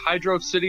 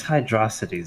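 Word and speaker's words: Hydrocity: a question uh sure is it hydr City or hydrosity Zone it's hydrosity Zone I love how cryo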